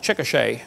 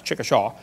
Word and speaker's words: Chickasha: textbook still has it 2005 textbook and I pronounced it wrong as Chickasha that's Chickasha Chickasha Oklahoma I got corrected during the break